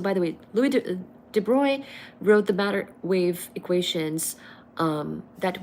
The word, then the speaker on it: Broglie: So this is spelled as Broglie, Broglie, but really it's Louis de Broglie.